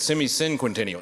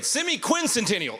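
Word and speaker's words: semiquincentennial: Semi-quincentennial. Did I even say it right the first time? I think I said semi-cinquentennial. Anyway, semi-quincentennial is the right way to say it.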